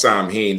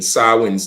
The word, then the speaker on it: Samhain: tradition of sin or Sam ha um mispronounced Sam ha sawi's day which today is your